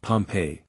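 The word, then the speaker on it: Pompeii: the buried city of Pompei they pronounce it pompe I always had an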